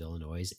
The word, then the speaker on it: Illinois: is it Illinois or Illinois? It depends where you're from.